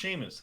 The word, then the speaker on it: Seamus: His name is pronounced Seamus.